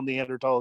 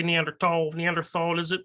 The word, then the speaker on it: Neanderthal: of what our well, you say Neanderthal, does it matter to you, in tall or thal?